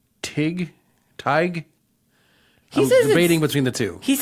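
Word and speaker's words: Tadhg: How to pronounce it? Tighe.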